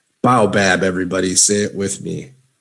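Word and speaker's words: baobab: say it the right way of course okay bow bab bow bab everybody sit with me bow bab very good okay a broad trunked tropical tree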